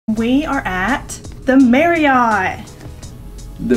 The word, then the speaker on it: Marriott: we are at the Mary I the mare yet you know it's actually pronounced Mary it I'm pretty positive it's Mary so we are here